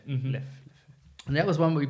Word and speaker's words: Leffe: Leffe. Mhm. Leffe.